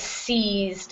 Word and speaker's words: seized: good um good and this word is seized it the EI in this case gets the long e sound um very hard to